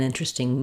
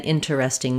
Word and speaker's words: interesting: interesting, an interesting book, an interesting movie. It's not not wrong to say an in ter es ting movie, but it slows things down. Naturally in fluent speech, we say it with three syllables, interesting.